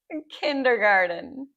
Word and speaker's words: kindergarten: Can it we don't say kindergarten. You could, but we say that as a D, right?